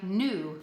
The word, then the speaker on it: knew: make the M sound because we've learned the K is silent new would be a